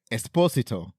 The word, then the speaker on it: Esposito: Mark Marin podcast and he says that the proper pronunciation like the way his family does it is Esposito Esposito because even though people people think that he's uh half like Mexican or something he's actually half Italian Italian yeah I figured